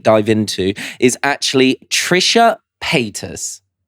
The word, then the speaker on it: Paytas: done a deep dive into is actually Trisha Pis. Is that how you pronounce her name? Yeah. Trisha Pis.